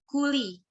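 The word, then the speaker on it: Cooley: Nah, ini tuh jangan sampai pronounce salah. Namanya tuh kuli.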